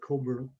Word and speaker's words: Cockburn: crisp soon enough the the british admiral's name is cockburn sometimes pronounced coburn and so on as